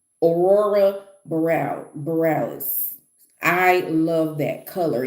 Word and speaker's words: Aurora Borealis: Uh, yes, this is how you say it. It's Aurora Borealis, I believe it's Borealis. Aurora Borealis.